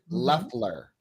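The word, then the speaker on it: Loeffler: Leler. Leler. We have to say it right. Oh, I said Laughler. Oh, Leler. Laughler. Left. It sounds like it's got the O, but it's Leler.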